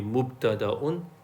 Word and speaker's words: mubtada: it's meant to be mubtada'un and khabarun. Okay? So a jumla ismiya will have two parts, always, right? For now. It'll have a mubtada, and the word mubtada also comes from the word bada'a, which means to begin.